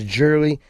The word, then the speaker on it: jewelry: And the American English spelling should actually help a little with pronunciation, because you'll notice that when said correctly, this E right here is silent.